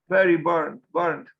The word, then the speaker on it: Byrne: Byrne, kind of like burned, almost like Byrne, B-U-R-N-E-T or B-U-R-N-T.